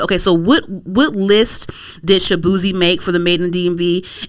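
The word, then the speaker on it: Shaboozey: So we're talking about the Beyonce album, and we were talking about Shabuzi.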